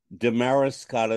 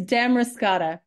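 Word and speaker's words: Damariscotta: Kate aldrid and I'm going to start with Demaris Scot main am I pronouncing it correctly well already I have to correct you go ahead it's Dam roscata dam roscata yeah it sounds like a fruit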